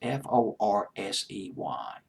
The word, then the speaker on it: Forsey: And I might be mispronouncing his last name. It's Forsey.